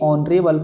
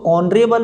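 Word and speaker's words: honourable: next D number का, your brother is ए ऑनरेबल person, तो ऑनरेबल में आपका एच होता है साइलेंट और प्रोनंसिएशन आता है इसका ओ से, ऑनरेबल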